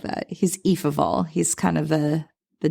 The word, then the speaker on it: Ephraim: And Ephraim who is referred to it's spelled EPH but is pronounced E. E of all, which I kind of like that he's Eve of all.